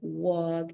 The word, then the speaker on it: walk: have the words like walk and talk you don't pronounce letter L it doesn't exist imagine okay so walk